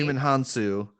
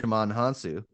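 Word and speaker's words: Djimon Hounsou: Digimon Hansu. That is definitely not how I pronounce it. That's yeah. I understood. There's a D in Um, there, and I didn't know that the D was silent.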